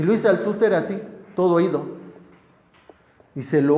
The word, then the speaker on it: Althusser: Luego, si lo pronunciamos en francés, saben que en francés se omite la S. El Luis Althusser. Luis Althusser.